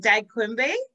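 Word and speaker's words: digaag qumbe: Is it dagkumbe? Did I say that correctly? Yeah, yeah. You said it right.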